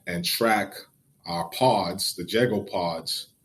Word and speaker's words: Jago: Is it Jago Pods, or how do I pronounce it?